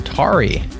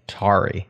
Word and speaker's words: Tauri: and said pronounce this I would probably pronounce it like Atari without the a tari but that's probably less